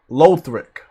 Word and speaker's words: Lothric: wrong i know uh it's low low thrick lothric like uh low threak knight in dark souls 3 i did not play dark souls 3 so lothric that's your name okay